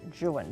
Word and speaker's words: Juan: Don Juan, or in his poetry, he would have pronounced it Juan.